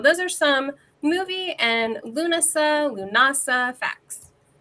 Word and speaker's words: Lughnasa: I've always said Lughnasa as well. I was going, is it Lughnasa? Have I been saying it wrong my whole life? I don't know. Like, you're right. The internet, old witches. I don't know. What do you say, Scarlett? How do you pronounce it? I always say Lughnasa. That's how I've always, and I've heard it that in Europe too. Like, I've spent a lot